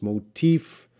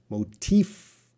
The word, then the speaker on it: motif: having problem with pronunciation it's motif and motive motif F Sal my teeth are coming down motif motive and he